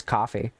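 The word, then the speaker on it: Ko-fi: website just instead of calling it Kofi which technically you can pronounce it as coffee um just call it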